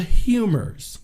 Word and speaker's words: humors: Because there's this thing called the humors. Okay? It's weird because when I saw how it was spelled, I'm thinking maybe it's spelled a different way, like, a French way. It's humors, like H-U-M-O-R, like humor, ha ha ha.